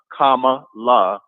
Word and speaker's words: Kamala: about kamala harris and i said kamala comma law and not whatever the hell he's pronouncing it and and not go